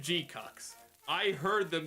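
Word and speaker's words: GQuuuuuuX: Let's talk about G-Cucks. And yes, we will pronounce it as G-Cucks. Not because it's funny. Well, okay, because it's funny to call it G-Cucks.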